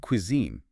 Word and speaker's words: cuisine: The word cuisine. Ah, yes. The pronunciation challenge mimics slightly exaggerated pronunciation. Cuisine. Stress on the second bit.